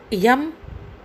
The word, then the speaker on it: yama: In English it is yama, but we can pronounce it yam. Y-A-M-A, yam.